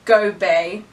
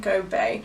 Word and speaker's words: Gobiel: She did a phonetic for me. Gobey. That's how you say it, Go Bay.